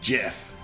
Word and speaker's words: GIF: It's created by CompuServe back in the day, and it's pronounced GIF.